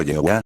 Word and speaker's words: Jehová: El ponerle al nombre de Iu las vocales de la palabra Edoná, Adonai Señor, y después pronunciarlo Jehová, Jehová, es una combinación tan híbrida, como lo sería el pronunciar la palabra Germani, con las vocales de la palabra Portugal, y esto daría como resultado la palabra Gormuna.